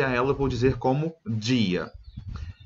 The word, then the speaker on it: dia: ela vou dizer como dia E observa em que a pronúncia é dia mesmo tá pessoal não pode ser guia energia é dia como se fosse a nossa pronúncia da palavra dia e me significa nos